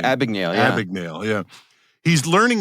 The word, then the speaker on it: Abagnale: It's like I can't pronounce his name. Abagnale, yeah.